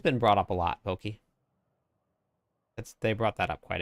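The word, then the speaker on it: poké: It would be Poke. The food is... With the food version is pronounced like an A.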